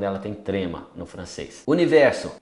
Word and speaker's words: univers: Universo, univers. Não pronuncia o S.